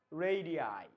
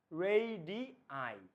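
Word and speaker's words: radii: কি জানো এটার এটার উচ্চারণ কি বলতো এটার প্রোনাউন্সিয়েশনটা কি রেডি নো রেডি আই রেডি আই ঠিক আছে রেডিয়াস এর প্লুরাল কি রেডি আই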